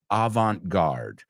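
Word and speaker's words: avant-garde: is Avant guard okay I'll tell you how we pronounce it not how the French pronounce it that you'll have to take a French class there so uh we say in English Avant guard I'll use it in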